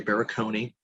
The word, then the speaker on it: Barakony: under my name baraconi since my name is that unique uh being my name not initials and baraconi being a four syllable phonetic hungarian last name easy to find me